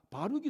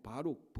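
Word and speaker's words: Baruch: 바둑판이 아니고 버룩 우리말로. 그래서 제가 저 뉴욕 맨하탄의 뉴욕 시립 학교 가운데 하나 있는데 버룩 칼레지의 버룩이 이 바룩하고 같은 스펠링이에요. 그래서 그러니까 제가 그 여러분들 기억하기 좋도록 그래서 버룩 칼레지까지 있는데 바로 그 버룩 또는 바룩 이 바룩이 마세아의 손자 네리야의 아들이에요.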